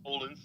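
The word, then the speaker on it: Odense: Festival uh in Denmark olens Denmark we say we we would say o but it's oldin you got learn how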